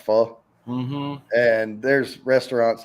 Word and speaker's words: pho: we talked about before the people call it foe it's uh but it's pronounced fall and there's restaurants like there's one in philadelphia